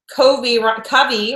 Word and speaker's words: Covey: Covey rhymes with lovely at Bay.